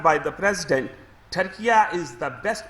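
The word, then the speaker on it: Türkiye: کہ ہمارے ملک کے نام کی پروننسیشن ٹرکی سے ٹرکیہ کیا جائے. وہ کیوں کیا جائے؟ کیونکہ ان کا I read it for you what is said by the president. Turkiya is the best pronunciation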